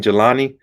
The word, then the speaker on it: Jehlani: march for uh uh jaylani i guess i think i said i see your name that's how you say his name jelani uh he's this he